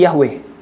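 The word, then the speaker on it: Yahweh: hefaf itu dikasih harakat jadi bacanya jadi Yehova. Yehovah gitu. Sementara pembacaan yang apa namanya ya? Ada orang Kristen yang mulai menghidupkan kembali pembacaannya itu bukan Yehova tapi Yahwe.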